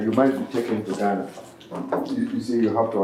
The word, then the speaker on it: Ghana: If you do that, nobody is going to buy it in Ghana. Chris. So you say you from Ghana, Ghana? Huh? How you pronounce where you from? Ghana.